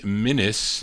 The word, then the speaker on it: Minus: The lead singer on that one is Renee Minus.